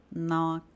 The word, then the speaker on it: knock: Toda vez, pessoal, que vocês verem palavras que iniciam com K N, provavelmente o K vai ser mudo. Isso vai acontecer na palavra know, por exemplo. Knee é um outro exemplo. Knife. Knock.